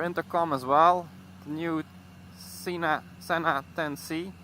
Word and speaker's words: Sena: I always pronounce it like Sena because in my language you will speak that like Sena, and Sena you only say that with a double N, you know, like the F1 pilot Ayrton Senna.